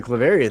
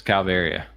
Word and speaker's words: calvaria: and it's not working you got me with the cavaria thing that's what you were saying pneumoni cavaria Clefairy um there it is here it is calvaria we can't even pronounce it right although the floor has